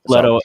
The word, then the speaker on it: Leto: to do something with leto and uh orlito i don't know however you're pronouncing it it's leto it's leto and uh i think